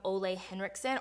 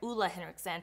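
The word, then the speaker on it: Ole Henriksen: ride-or-die product for me is this toner from Olay Henriksen or I'm sorry EULA Henrickson I just learned that the correct pronunciation is actually listen but anyway so EULA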